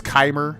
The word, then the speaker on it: Chimer: Chimer. I think it's Keimer. That's how you pronounce it.